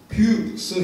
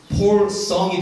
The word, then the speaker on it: 필승: 있어도 인사를 경례를 붙이는데 원래는 발음이 필승, 반드시 이기는 겁니다. 필승 해야 되는데 있는 힘껏 해야 돼요. 그래서 발음이 폴성이 됩니다. 큰 소리 이렇게 하니까 폴성이 돼요.